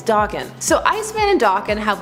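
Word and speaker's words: Daken: everybody to yell about how you say his name even though at a Khan they said it was Dawkin so Iceman and Dawkin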